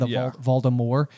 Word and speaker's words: Voldemort: point in the audiobook, Jim Dale is pronouncing Voldemort in that way, where it's a silent T at the end, Voldemort. And as the films are released, they do pronounce the T.